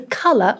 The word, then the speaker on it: colour: to talk about the color of a collar. So yeah, we do need to make a distinction between these two sounds, a and o.